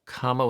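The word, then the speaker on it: kāma: difficult to type but it's kama with a long a just for reference okay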